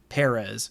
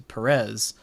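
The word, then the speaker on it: Pérez: I think it's Perez, and I think we've been saying it wrong his entire career because the broadcast has just started saying Perez as opposed to Perez, and I need to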